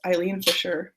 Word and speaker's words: Eileen Fisher: eile Fisher um and it is pronounced Eileen Fisher because my name's Eileen so and I just spell with an A but this is an E Fisher um like cardigan